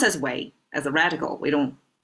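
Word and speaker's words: 囗: Pronounced as way, as a radical, we don't use it independently, just by itself.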